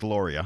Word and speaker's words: Lauria: Angela Laura, it's Lauria. Lauria, I'm sorry.